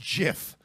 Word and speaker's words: GIF: ] nothin you all it's pronounced jiff and I won't to